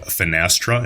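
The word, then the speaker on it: Finastra: news guys I know that you've heard about fenestra and yes that's how you pronounce it they are absolutely massive dating back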